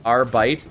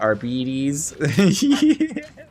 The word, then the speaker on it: Arbites: Our Arbites is Arby's, not Arbedes.